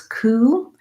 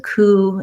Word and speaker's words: coup: So just the K sound and the oo sound. That P is silent.